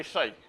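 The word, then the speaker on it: psi: And it is denoted by shai. So this is this Greek letter. The way you pronounce it is like this.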